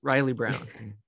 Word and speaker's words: Reilly Brown: pronunciate your name in the right way? Yeah, that's it. Riley Brown.